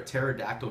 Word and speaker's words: pterodactyl: hard to hear a pterodactyl go the bathroom because the p is silent so make sure you